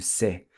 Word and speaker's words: cê: And then we also saw how você gets shortened to se, which leaves us with que você fez?